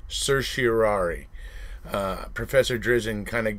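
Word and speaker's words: certiorari: petitioning for a RIT of sirari it's actually pronounced sersari uh Professor drizen kind of gave me some crap one time because I I prefer to say Sir tiari because you hear people say things like getting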